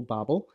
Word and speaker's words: Babel: are going to cover Babel can be pronounced Babel Babble Babble in the next verse